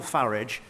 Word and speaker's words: Farage: of French fascists, Nigel Farage and Vladimir Putin? Well, I'm glad he takes the English pronunciation of Farage rather than the rather poncy foreign-sounding one that he seems to prefer.